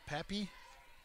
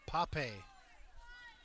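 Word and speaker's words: Paape: This hitter is Pappy. How do you say this name, DT? Pape. P-A-A-P-E.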